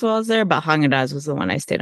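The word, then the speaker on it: Häagen-Dazs: Is that how you pronounce it? Haagen-Dazs? Haagen-Dazs. Is that right? Yeah. Haagen-Dazs.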